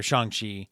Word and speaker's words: Shang-Chi: see shang shi uh shang chi i'm not sure pronunciation yeah always remember that it sounds like sean okay like that was